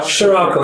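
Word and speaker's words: Sirocco: Scirocco. Scirocco. Yes, the name of a wind in Morocco.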